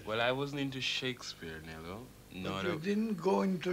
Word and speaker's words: Shakespeare: name correct and shakesp or shakespare yes nobody in the Caribbean have I ever heard say shakespare they said Shakespeare they said Shakespeare yes well I would wasn't into Shakespeare NE you didn't go